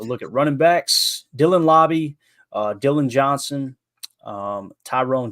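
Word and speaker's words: Laube: you say his name Jacob do you know lobby lobby okay Dylan Lobby out of New Hampshire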